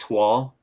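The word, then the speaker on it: toile: You going soft on Is that pronounced twal? Am I thinking of the toll, right?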